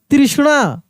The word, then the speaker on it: तृष्णा: त्रिणमूल तृष्णा क्या लिखेंगे तृष्णा तृष्णा तो तृष्णा देखिए त्रि ये वाला नहीं होगा त में ऋ की मात्रा ऐसे त्रि आधा श न ऐसे तृष्णा प्रयातने लिखेंगे प्रयत्न प्रयत्न प्र